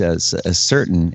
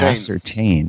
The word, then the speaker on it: ascertain: another another word that you pronounced as a certain it's actually pronounced ascertain yes after what I